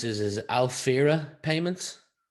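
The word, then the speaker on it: Alphyra: Let's move over to, you're going to have to help me pronounce this, is Alfira Payments? Alfira. Alfira Payments. Yeah. Alfira.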